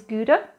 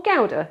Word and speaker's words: Gouda: 99.9% of it is Gouda, if you're British, or Gouda, if you can pronounce things properly.